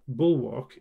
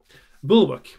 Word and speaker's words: bulwark: my phone bullock book bull book is actually the correct pronunciation uh i keep putting the stress a little bit further but i kept saying bulwark but yeah but bull